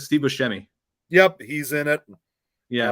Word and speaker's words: Buscemi: name it's that's um I say like Steve Buscemi yep he's in it yeah I remember him